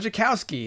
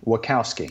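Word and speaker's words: Wachowski: holes asher what housekee what jokowski is it how do you say it oh it's um wakkowski okay he directed the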